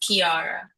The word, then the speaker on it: Chiara: Well, it's pronounced Kiara.